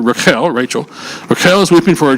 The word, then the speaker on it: Rachel: It is Rachel, that's how you say her name in Hebrew, Rachel.